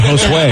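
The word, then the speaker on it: Josué: Oh, at Hoseway. I think it means it's Josh. I'm looking Joshua. the hose way. It's Josue. So Jimmy didn't do a good job pronouncing that.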